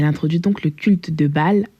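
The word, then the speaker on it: Baal: donc le culte de Bâ à Judas donc si tu ne connais pas B ça s'écrit B a a l et c'est connu pour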